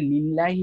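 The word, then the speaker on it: لِلَّهِ: লিল্লাহি মাফিস এই যে লিল্লাহি বলতেছি আমরা ঠিক আছে এখানে কিন্তু আমরা কিন্তু লিল্লাহি বলার সময় কিন্তু আমরা আলিফ উচ্চারণ করতেছি না সো এটা মানে দুইটা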